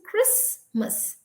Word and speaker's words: Christmas: But as generations pass by, today we don't say, we just say Christmas. So the T is completely silent.